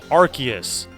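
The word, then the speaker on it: Arceus: do you pronounce arus I pronounced it the way that everyone pronounced it when he was originally released and now apparently people call him archus which is very strange to me but I I still pronounce him the the name I pronounce the name the same way that it is pronounced for a very very long time before Legends of arus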